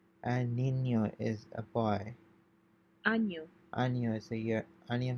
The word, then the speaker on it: año: año, Año is a year.